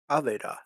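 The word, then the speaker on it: אבדה: So we have A, V, and then Dalet with the A sound, and He is silent. So it's A, V, Da. Aveda.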